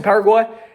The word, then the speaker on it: Paraguay: And so, I like to say it like that in a Spanish way, Paraguay. I went to Paraguay and I decided to set up my personal income tax there.